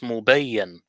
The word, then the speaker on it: mubin: I think in Arabic the word mubin, the way we pronounce it is not correct, because in Arabic you have bayan, and bayan I now know that it means evidence. So I think what it's saying, it's mubayyan. It should be written as